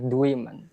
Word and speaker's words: Dwiman: And your last name is is is it Dwimman? Am I pronouncing that correctly? Dwan.